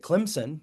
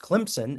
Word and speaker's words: Clemson: I was calling it Clemson because that's how it's spelled, but everybody there told me that it's pronounced Clemson as if there's a hidden P in there somewhere.